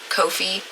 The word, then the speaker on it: Ko-fi: I said I was going to start pronouncing that right. Ko-fi page overlay thing set up over there, so that'll pop up during stream.